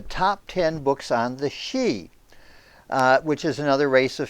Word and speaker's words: Sidhe: the she anyway and it's spelled by the way in gaelic s-i-d-h-e but pronounced she we've all heard of